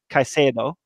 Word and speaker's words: Caicedo: And that's where I want to introduce Carlos Caicedo.